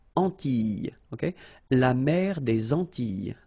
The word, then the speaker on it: Antilles: So final S and E, really you don't pronounce them. So you get this E sound. Antilles.